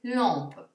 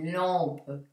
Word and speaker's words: lampe: Per esempio, la parola lampada si legge lampe. La parola 40 si leggerà 40. Quindi faccio lampe, 40, ok?